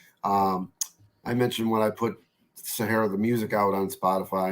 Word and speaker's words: Sahayra: And Mike, you and I talked about it a little bit ahead of time, but I checked on the pronunciation. So it is Sahayra.